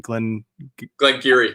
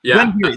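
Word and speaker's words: Glen Garioch: And then Craig Ellicky and then Glen Geary. Yeah. Glen Geary.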